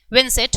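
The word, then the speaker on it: Juan: नाम है इनका उन विनसेंट पेरिस उन जे साइलेंट रहेगा वान विंसेट पेरिस जो है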